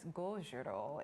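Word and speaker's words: Gojira: Now, Godzilla, also known as Gojiro in the sort of Japanese pronunciation, was a film that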